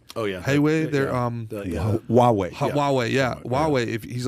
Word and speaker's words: Huawei: said if you let uh what is it highway how do you uh how do you pronounce that oh yeah they're um yeah huawei if he's like if you let them in